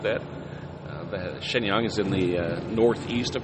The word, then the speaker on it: Shenyang: that's nearby is Shenyang it's the way it's spelled it's spelled like you would say it Shenyang you know but so